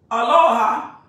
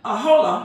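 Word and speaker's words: Aholah: And she, Aloha, was that how to say her name? Ahola, I'm sorry, became famous. Just like a woman caught in adultery. She's the talk of the town. Ahola.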